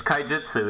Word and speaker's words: Kaijitsu: It's Kaijitsu, yeah. Yeah, it's like Kaijin from that movie, Big Monsters.